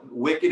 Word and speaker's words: Wykid: It's so Wykid is WYKID, like kid.